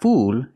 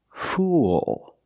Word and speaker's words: fool: stupid person and pronunciation it's not fool it's fool use the dark L at the end link The Sounds o with a dark L it makes an extra sound listen fool fool a